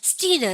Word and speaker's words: student: 그게 아니에요. student. 그러니까 뜨 발음 하셔야 돼요.